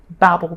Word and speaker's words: Babel: about the tower of Babel or Babel or however you um pronounce it. Sometimes people say babble because it's all about language and babbling and and the different languages. But yes, the tower of babel some people say.